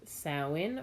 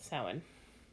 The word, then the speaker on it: Samhain: little education bitten so sound traditions pronounced salmon or Sabine or Samhain regional it's probably accent I call it salmon or end of summer